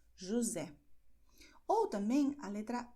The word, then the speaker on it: José: Nestes casos, a letra S entre vogais, como ocorre em José, você vê que a letra S está entre duas vogais, portanto, o som é de Z, José.